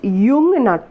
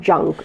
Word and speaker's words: Jung: by uh carl jung it is pronounced jung and not junk okay now um so